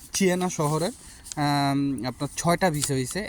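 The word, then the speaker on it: Siena: পাইছে আজকে চিয়েনা শহরের আপনারাও এটারে উচ্চারণ করবেন সিয়েনা কিন্তু এখানে আপনার ইটালিতে এটারে বলা হয় চিয়েনা চিয়েনা শহরের আপনার ছয়টা ভিসা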